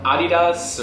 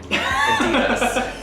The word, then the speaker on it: Adidas: When you're in like Old Navy or Adidas or any of the, I pronounced it like the German, Adidas. it's Adidas. Ask any German.